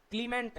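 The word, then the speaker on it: Clements: सी एल ई एम ई एन टी एस क्लीमेंट सी कै की pronunciation कर रहा है यहां पे।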